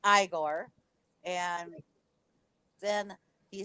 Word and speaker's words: Igor: correcting him about that it's not pronounced Igor it's pronounced Igor and then he says